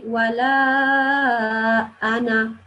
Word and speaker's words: ولا أنا: It's actually an exception, and this is a word that it is written like this, but it won't be pronounced like this. It will be pronounced like there is just a noon, alif and this noon, not this second alif to prolong it. So we'll say wala ana.